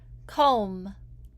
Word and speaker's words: comb: The letters MB can also make the sound. It makes the B silent. The reason we have the silent B after M sometimes is that people used to pronounce this B when they were talking. We don't say it anymore, but we still spell it that way.